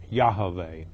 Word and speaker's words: Yahweh: It is YHVH, which is pronounced Yahweh.